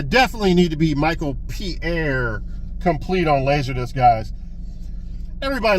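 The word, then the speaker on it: Paré: Now it's Pierre. I even wrote it on the backs. I always get confused on how to pronounce his name.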